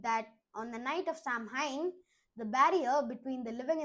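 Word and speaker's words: Samhain: They celebrated a festival called Sam Hine, spelled F A M H A I N, but pronounced Sam Hine.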